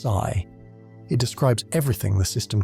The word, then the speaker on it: psi: What we call the wave function denoted by the Greek letter psi f pronounced sigh.